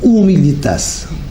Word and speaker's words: humilitas: a une origine latine humilitas humilitas en prononciation latine correcte qui est dérivé du